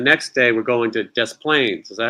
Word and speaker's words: Des Plaines: Then the next day, we're going to Des Plaines. Is that how you say it? Des Plaines. Des Plaines. Yeah. Des Plaines.